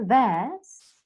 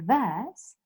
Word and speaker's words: verse: I will teach you in my verse. I will teach you in my verse. Verse. Can you see that there is no rolling? They don't roll the R.